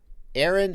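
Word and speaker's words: Ahren: And don't go because Aaron, Aaron, A-H-R-E-N, but pronounced like A-A-R-O-N.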